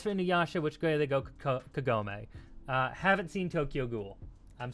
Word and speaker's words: Kagome: Kagome! I think that's how you say it. Inuyasha. Is that how you spell it? Kagome.